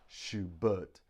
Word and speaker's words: Schubert: So we have Schubert, Schubert, Schubert, Schubert. But the stress is on the but. Schubert, Schubert. So we stress the second syllable.